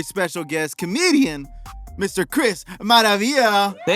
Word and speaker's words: Maravilla: Maravia.